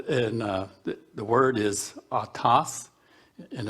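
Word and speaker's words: αὐτός: 846 and that and uh the word is atas and it's not autos like where you see a car or a truck is pronounced atas and the first strong uh concordance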